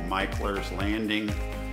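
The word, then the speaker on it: Mickler's Landing: nice beachfront Park called Michael's landing and you look at the spelling looks like Mickler but it's pronounced Michael's Landing that has a very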